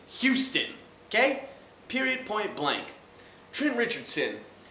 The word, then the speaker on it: Houston: and it's not Spanish so you don't not pronounce the age it's not Euston it's Houston okay period point-blank trim richardson number three draft